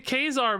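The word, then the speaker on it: Ka-Zar: so many people have made fun of me for saying Kazar but that's just how it's pronounced maybe I knew that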